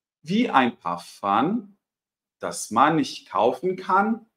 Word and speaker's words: Parfum: E, por se tratar de uma palavra francesa, a gente vai reter a pronúncia. Então, na hora de pronunciar, a gente não vai falar parfum, a gente vai falar parfum, tá? Como se fosse um ar contínuo aqui.